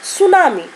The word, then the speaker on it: सुनामी: अब ये शब्द है, यहाँ पर देखो ये शब्द है सुनामी, यहाँ पर टी साइलेंट है बेटा, ठीक है, सुनामी।